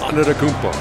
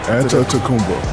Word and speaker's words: Antetokounmpo: Antetokounmpo. But even it's Antetokounmpo. It's like a P.